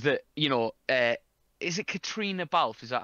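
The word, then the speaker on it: Caitríona: the Oscars, is that, you know, is it Katrina Balfe? Is that how I think you'd pronounce it, Katrina?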